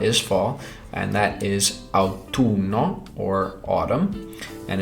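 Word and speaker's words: autunno: fall and that is out to numb or autumn and it has two ends so I'll do not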